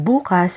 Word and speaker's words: bukas: Bukas and bukas are Tagalog heteronyms because they have the same spelling but they are pronounced differently and they have different meanings.